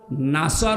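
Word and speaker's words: نصر: অর্থ হচ্ছে সাহায্য আর নুন সিনর নাসর মানে শকুন আপনি আল্লাহকে বলবেন যখন আসবে আল্লাহর সাহায্য তখন আপনি বিজয় দেখতে পাবেন এখন যদি কেউ সিন দিয়ে উচ্চারণ করে বলে ইজ আনাসুল্লাহি যখন আসবে শকুন তখন আপনি সাহায্য দেখবেন।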